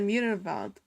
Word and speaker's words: Müllerwald: The W's are V's. That's why I said Müllerwald.